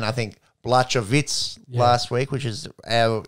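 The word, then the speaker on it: Błachowicz: But it seems like the commentators and the lingo seems to be Jan Blachowicz with a silent H.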